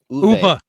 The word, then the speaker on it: Uwe: Uwe. Uwe? Like the grape. Or like the word for grape.